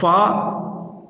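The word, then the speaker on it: ف: இந்த ஃபா பல்லும் உதடும் சேர்ந்து இந்த எழுத்தை உச்சரிக்க வேண்டும். அதாவது மேல் முன் பற்களின் ஓரங்கள் கீழ் உதட்டின் ஈரப்பகுதியில் இலேசாக படும்போது வெளியாகும் எழுத்தாகும் இந்த ஃபா என்ற எழுத்து.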